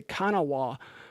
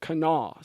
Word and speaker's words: Kanawha: kan a wh a which if you look at that looks like Kanawa at least to me I would say kana wah but I was later told everyone there pronounces it Knaus so that is why